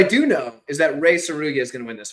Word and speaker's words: Tsuruya: But Tsuruya is basically it's similar to tsunami. So anybody that's like thinking like trying to like remember how to say it right, just think tsunami.